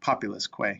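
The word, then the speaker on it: populusque: And it comes together to be pronounced like way.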